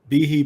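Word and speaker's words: Behe: put uh let's put bihi Bay he always pronounced his name bihi yeah sorry baby yeah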